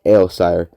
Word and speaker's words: Aelsire: Malice Gronoka and Norman Ailsire are the cousins. Okay, and these names are spelled. Malice is spelled Malys, and Gronoka is spelled Gronoka.